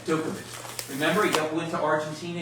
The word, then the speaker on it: Djokovic: You don't pronounce the J. Dookic.